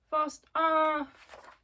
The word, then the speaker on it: Faust: Faust. It's... Okay, so I was told it's Faust, not Faust.